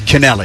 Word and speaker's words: Canelli: Uh Ian Kennel Canell Canelli, it's killing me. I cannot get this pronunciation. Well, we just got word today that it is Canelli.